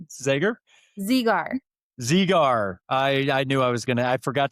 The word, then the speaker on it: Zegar: So it's like Z just, with a gar.